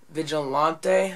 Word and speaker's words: Vigilante: I got a new combo, and I got the Abu Garcia Vigilante, that's how you say it.